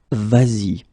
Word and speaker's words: vas-y: Aller normally at the imperative should be va, just like that. So we're talking here about the tu person, okay? And then if you want to combine it with the pronoun y or y here, then it will become vas-y.